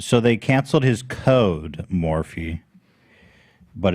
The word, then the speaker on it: Morphe: Anyway, um, so regarding Morph, uh, who has made millions of dollars off a known predator, Morphe.